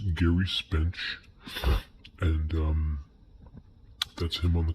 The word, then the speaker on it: Gerry Spence: That's pronounced Gerry Spence, and that's him on the cover.